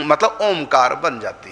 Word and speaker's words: ओम: यही वो अनुस्वार है और इसको जब हम उच्चारण करेंगे तो मुंह बंद करना करना पड़ेगा। मुंह बंद करके तब नाक से स्वर निकलेगा। ओमकार ओम के ऊपर जो बिंदी है वो यही है।